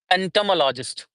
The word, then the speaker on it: entomologist: Entomologist would be same for British and American English. It would be having one, two, three, four, five. One, two, three, four, five. Yeah, five syllables. Ent entomologist, entomologist. Okay, in that one, it is a mologist. It is mologist for both of them, whether it is American or the British English.